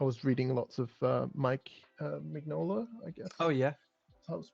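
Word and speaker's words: Mignola: bit more I was reading lots of uh Mike mola I guess oh yeah that's how it's pronounced so I wanted to try like a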